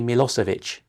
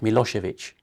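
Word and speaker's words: Milošević: putting him on trial in The Hague to pronounce his name, they all say Milosevic. And at one point his defense team made a point of this. Can you please at least get his name right, Milosevic?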